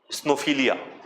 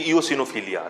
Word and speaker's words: eosinophilia: told me that I have snowphilia. Right. It is basically eosinophilia, right? People call it snowphilia, snow wala. है ना, उसको गलत pronunciation करते हैं.